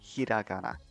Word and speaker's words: hiragana: the word hiragana properly so it's hiragana so as you notice it's it's also important for japanese to lengthen the a's at the end of most of the making sounds is a bit different but as you can see r seems to it lasts a bit longer doesn't it it's not